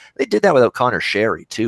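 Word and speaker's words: Sheary: did that with O'Connor sherry - who's - who's actually changed his pronunciation by the way it's no longer shiri it's actually sherry as in the drink so I don't know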